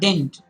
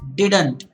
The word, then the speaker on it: didn't: say dink they say din it is not dint di d n+ it t is didn't ii D is not silent it's not dent its didn't didn't remember and please say it